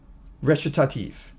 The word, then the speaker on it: recitative: So we have aria, recitative. Right? That's the way it's pronounced.